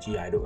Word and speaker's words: (G)I-DLE: It's like G in brackets, then a capital I, then a dash, and then D-L-E, but then you pronounce it G-Idle.